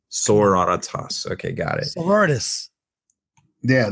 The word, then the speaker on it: Sororitas: Sororitas. It's sorority, but Latinified. Sororitas.